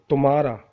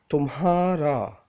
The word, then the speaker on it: تمہارا: A little bit difficult, but you have to know how to pronounce. Some people say tumhara. No, this is incorrect. The correct word is tumhara.